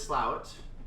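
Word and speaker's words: Slaithwaite: but it did so this is slout of course it's spelled as slave weight uh good luck figuring that out if you're hearing slow it I don't know how this is pronounced slout but apparently it is and as usual because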